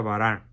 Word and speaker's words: Baran: Barin se escribe, pero como es francés se pronuncia Baran.